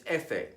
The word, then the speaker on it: efe: only the stress F the Spanish word for f is efe and it is pronounced basically the same as it is in English examples Flor Fabio buffanda